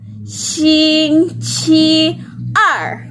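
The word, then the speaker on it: 星期二: syiar nah bacanya gimana sing cierre nah airnya itu dibanting suaranya suaranya ya nah jadi bunyinya gimana Sing Sky are oke iya coba praktekan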